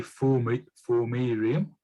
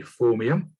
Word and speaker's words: Formium: No, that's not how it's spelled. That's not how it said. Formerium. Beyond the Formerium. And on the right, we have Andy. So on the left, we have Beyond the Formium. Formium, that's how he says.